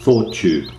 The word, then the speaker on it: Thoughtube: to thought you yes it's pronounced as two words thought tube this is because sometimes